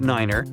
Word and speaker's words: niner: It's the way pilots pronounce certain numbers in their pilot English. Tree stands for three. Five for five and niner is used instead of nine. Such pronunciation helps to avoid radio miscommunications and the confusion caused by similar sounding numbers.